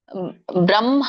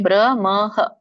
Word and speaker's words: ಬ್ರಹ್ಮ: ಮೂರನೇ ಲೈನ್ ಬ್ರಹ್ಮಾಣ ಮೇಷಂ ಬ್ರಹ್ಮ ಮ ಹೇಳಬೇಕು ಆಮೇಲೆ ಹ ಹೇಳಬೇಕು ಸಂಯುತ ಸಂಯುತದ ಕುರಿತಾಗಿ ಹೇಳಿದ್ದೆ ನೆನಪಿರಬಹುದು ಇಲ್ಲಂದ್ರೆ ನೋಡಿ ಇಲ್ಲಿಂದು ಬ್ರಹ್ಮ ಇಲ್ಲಿ ಬ್ರಹಮ ಅಲ್ಲ ಹ ಅನ್ನಂಗಿಲ್ಲ ಫಸ್ಟ್ ಮ ಹೇಳಬೇಕು ಫಸ್ಟ್ ಬ್ರಮಹ ಬ್ರಹ್ಮಾಣ ಸೋ ನಮ್ಮ ಎದೆಯಿಂದ ಆಹ ಉಚ್ಚಾರಣೆ ಆದಾಗ ಮೊದಲುಮ ಹೇಳಿ ಆಮೇಲೆ ಹ ಹೇಳಿದಾಗ ಮಾತ್ರ ಎದೆಯಿಂದ ಉಚ್ಚಾರಣೆ ಆಗುತ್ತೆ ಅದು ಅದೇ ಸರಿಯಾದ ಪದ ಕೆಲವೊಬ್ಬರು ಬ್ರಹ್ಮ ಅಂತ ಬ್ರಹ್ಮ